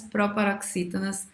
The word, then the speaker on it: proparoxítona: Todas as proparoxítonas são acentuadas. Todas as proparoxítonas são acentuadas. A palavra proparoxítona é uma proparoxítona, ó. Proparoxítona. A antepenúltima sílaba é a mais forte.